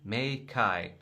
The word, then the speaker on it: Meike: they said, "Hi Aaron, the brand pronounces Meike."